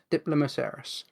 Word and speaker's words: Diplomoceras: Is it Diplomoceras? I think that's how it's pronounced. Let me make sure I'm pronouncing that right. Yeah, Diplomoceras, which is a type of ammonite.